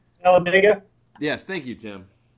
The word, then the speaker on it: Talladega: tallada t i can never say it right Taladega yes thank you Tim Talladega Tega this is the final race for the